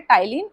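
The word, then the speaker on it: ptyalin: Salivary अमाइलेज़ या फिर टाइलीन। क्या बोलते हैं? टाइलीन। इसमें टी पी जो है वह साइलेंट है।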